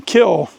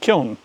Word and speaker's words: kiln: My mom dutifully taught me to say lime kill, and that's no longer true. It's lime kiln.